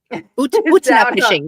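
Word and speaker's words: Utnapishtim: Utna pishing. That's how you say it.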